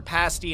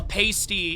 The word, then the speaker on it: pasty: Yeah, it's it's spelled with the Y, but it's pronounced with the I.